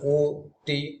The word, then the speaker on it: অতি: যেমন অতি কথাটি উচ্চারণে ও তি, অপু হলো ও, পয়হসু অপু।